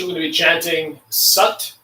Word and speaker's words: Sat: For this posture, we're going to be chanting Sat, S-A-T. It sounds like Sat, S-U-T, but it's spelled S-A-T.